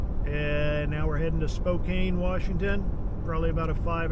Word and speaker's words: Spokane: those of you who don't know it's actually Spokane okay Spokane thank you so it's almost